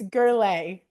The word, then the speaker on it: Gurule: I love that he was the one to do it because it's Gerle.